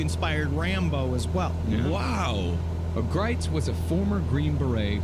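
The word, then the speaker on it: Gritz: right-wing survivalist named bo greitz although it's spelled grits with a z beau grits interesting characters there's a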